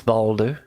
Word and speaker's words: Balder: My name is Balder. Like the rock, yes.